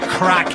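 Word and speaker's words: craic: They're enjoying the crack. And we'd like to remind our American friends that's spelled c r a i c means fun.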